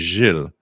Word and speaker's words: Gilles: It's like saying my name is Gilles. There's no, the soft G is not a sound that you have in English in anything. So Gilles is not something that's common to an English language speaker.